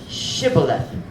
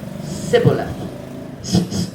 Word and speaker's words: shibboleth: Shibboleth. The word is shibboleth. I don't know what shibboleth means, but they couldn't pronounce it. They could only say sibboleth.